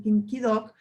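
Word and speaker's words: 김기덕: Pero la diferencia es que las películas de Kim Ki-duk, que en coreano se pronuncia Kim Ki-duk, habla básicamente de un capitalismo enfermo.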